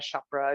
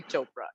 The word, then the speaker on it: Chopra: everybody is priyanka chopra chakra it's not chopra it's like if you can say oprah you can say chopra you know it's not